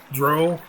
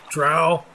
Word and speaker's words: drow: are the reptilian race dark elves dro drow depending on your pronunciation choice uh dunmer they're called